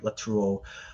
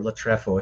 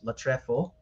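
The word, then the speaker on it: λατρεύω: being tossed around, like latruo or latrefo, if you want to use the proper Koine Greek pronunciation.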